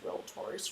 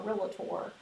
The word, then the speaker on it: realtor: real tour uh correctly remember it only has two syllables realtor some people put that third syllable inside realtor or relator so we don't say